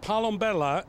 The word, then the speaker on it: Palombella: um spell your last name it's uh it's pronounced palombella and it's uh means palomba is a dove